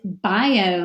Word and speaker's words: bio: Bio is a two-syllable word. The I is open and the O is open. These are not a vowel team, they're not a diphthong, so we do have to divide between the I and the O, bio, and it means life.